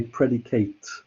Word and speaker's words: predicate: noun as well interestingly it's the same word but we pronounce it differently depending what it is if it's a verb we normally say predicate as i'm i'm going to predicate something of this apple